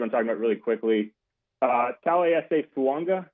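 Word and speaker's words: Taliese Fuaga: Talese Fuanga, which that's a name that if you're trying to figure out how to say it, that is how it's said. I asked him.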